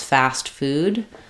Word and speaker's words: fast food: It's not dropped, but it's not u necessarily strongly articulated either. Fast fast food. Fast food. So, we might just use an unreleased tea there. Or we might pronounce a little light tea.